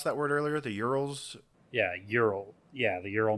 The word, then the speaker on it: Ural: How'd you pronounce that word earlier? The Urals?